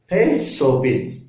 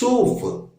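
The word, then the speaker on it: סוף: சோபித். இப்ப எப்படி வாசிக்கணும்? சூஃப். சூப் இல்ல, சூஃப். எஃப் சூஃப். எஸ் ஓ எஃப் சூஃப் என்றுதான் வாசிக்க வேண்டும். தமிழ் என்றால் சூஃப். இப்படித்தான் இதை ப்ரொனன்சியேஷன் உச்சரிக்க வேண்டும்.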